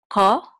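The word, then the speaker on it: כל: in into the English this is a cuff and this is usually in modern Hebrew says Ah but um in ancient Hebrew it said oh and with this word um that all like as an aw ah that ah sound is preserved so we're going to say KO and this is a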